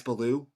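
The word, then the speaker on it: Belyeu: it's Max bellu um max beloo it's really how you say his name I went with Max beloo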